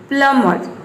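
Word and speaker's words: plumber: प्लम्बर, प्लम्बर, ये प्लम्बर नहीं होता है, ये होता है प्लम्बर, इसमें बी साइलेंट है।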